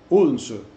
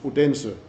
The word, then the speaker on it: Odense: the capital of Fyn Odense, which the Americans somehow pronounce Odense, where we had a